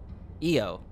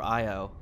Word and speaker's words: Io: Android astronauts to explore EO, I think it's pronounced. Hackers target solar panels for latest ransom scam. Yikes. NASA announced the launch of a 5 android crew to explore Io, or EO, one of Jupiter's satellites.